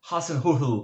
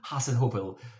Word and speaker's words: Hasenhüttl: injuries, suspensions in terms of Southampton and Ralf Hasenhüttl. Patrzcie, nauczyłem się wymowy tego nazwiska niemieckiego trenera Southampton, Hasenhüttl.